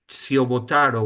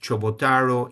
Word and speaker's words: Ciobotaro: I'm talking about my grandfather part, the one you're seeing here in pink, because the last name Ciobotaro, which is actually pronounced Chobotaro, it means shoemaker.